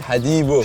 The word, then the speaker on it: Hadibo: Hadibo.